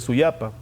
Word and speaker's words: Suyapa: explicar un poco esto la pronunciación de este vocablo es soya para que más tarde se convirtió en suya para el investigador alberto membreño